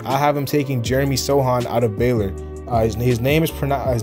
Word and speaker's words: Sochan: at number 25 with the miami heat i have him taking jeremy sohan out of baylor his name is pronoun his name is spelled jeremy sochan but it's jeremy sohan or sohan um he's a british